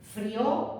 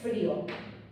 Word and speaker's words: frío: Pensad que en castellano no es lo mismo esto que esto. Esto no lleva tilde, río, del verbo reír. No lleva tilde. Como no lleva tilde, frío, del verbo freír. Pero si lleva tilde, río, y si lleva tilde, frío. Porque si no sonaría río y frío.